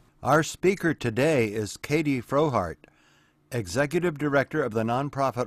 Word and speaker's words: Frohardt: a wonderful speaker uh her name is katie frohart katie am i pronouncing it your last name correctly that is